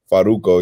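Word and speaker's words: Farruko: Fraruco. Did I say his name right? Because Cruz is Faruko, always like, you gotta pronounce it right. Faruko, yeah, Faruko.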